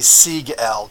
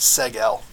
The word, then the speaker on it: Siegel: be Jerry Siegel's name so it's actually C L but here they just pronounced a seg L whatever just so you